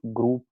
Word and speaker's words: grób: Yes, in Polish it’s also an “o”, but there’s a little mark above it, so it’s read as [u] but it’s written as “ó”.